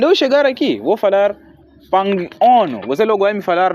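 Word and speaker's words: pang'ono: Sim, o problema, por exemplo, pangono.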